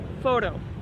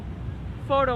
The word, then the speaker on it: photo: op photo op so when you say the word photo make sure to use a flap T which sounds like a D sound photo photo op photo op big